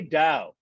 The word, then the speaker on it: Tao: why do i say dao because even though it's written in english as tao it's pronounced like dow jones so it's really pronounced